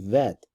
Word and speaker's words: Bet: Like the letter Bet, for example, which can be pronounced Bet, or it can, which is a hard sound. It can also be pronounced Vet, which is a soft sound.